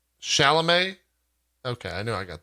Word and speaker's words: Chalamet: It's not Chalet, right? Chalamet?